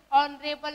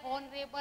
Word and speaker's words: honorable: क्यों, क्योंकि हमारे साउंड कैसे ऑनरेबल है, हॉनरेबल नहीं है।